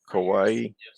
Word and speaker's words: kawaii: the purest form kawaii is that like hawaii but with the k kawaii that's the way i